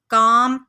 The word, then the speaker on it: calm: शी वो इज़ है काम पुरसकून। यहाँ पे आप देख रहे हैं कि CALM लिखा हुआ है, लेकिन यहाँ पे हमने L नहीं पढ़ना, L साइलेंट है।